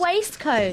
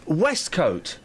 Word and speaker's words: waistcoat: your waist oh but it's pronounced waistcoat no it's pronounced westcote where where is it